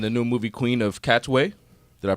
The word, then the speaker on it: Katwe: she's starring in a new movie queen of cats way did I pronounce that right yes okay she plays Harriet